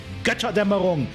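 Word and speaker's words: Götterdämmerung: that Tyr helped liberate during House Steiner's Operation Gotterdammerung. And that's how you pronounce it.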